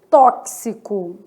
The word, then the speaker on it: tóxico: X com som de KS, tóxico. Nesse caso de tóxico, eu tenho 6 letras e 7 o quê?